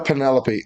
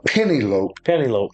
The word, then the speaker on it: Penelope: First off, if you're not a Penelope Oh, I'm sorry. I'm I'm saying it wrong, Doug. A Penny Lope fan.